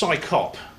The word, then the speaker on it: CSICOP: But anyway, it's pronounced psychop. Psychop.